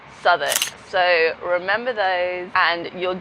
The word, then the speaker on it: Southwark: Spelt Southwark, but said Southwark.